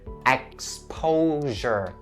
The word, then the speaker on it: exposure: But risk of and the last pronunciation point is upon the word "exposure", /ek-ˈspəʊ-/. And then the last syllable is /ʒər/ it has that /ʒ/ sound so /ek-ˈspəʊ-ʒər/ please don't say /ek-'spəʊ-zər/ or /ekˈspəʊʃər/. Because they are all wrong "exposure..."